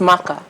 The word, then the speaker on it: Maka: And I'm like, if it's Maka, then it would be an ER, right?